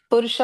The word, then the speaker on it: Purusha: No. Say it correctly. You're there, but the word is wrong. Purusha avatar. Sorry. Correct. Purusha avatar.